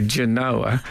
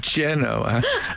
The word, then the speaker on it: Genoa: to Indonesia they and they certainly don't say Genoa it's mainly generally pronounced Genoa and and who would